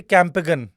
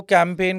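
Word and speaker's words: campaign: सो कैंपेन को I used to always say कि कैंपेगन। सो माय mom used to always keep correcting me. इट्स कैंपेन। इट्स नॉट कैंपेगन।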